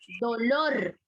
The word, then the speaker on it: dolor: Dolor. Escuchen. Dolor. ¿Dónde lleva la fuerza de voz? Lor. Lor. Por lo tanto, es aguda. Lleva la fuerza de voz en la última sílaba.